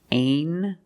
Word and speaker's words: angel: In this word, the G makes a j sound, like jump and juice. Together with the N, a regular N sound, not the nasal but the regular N. Angel.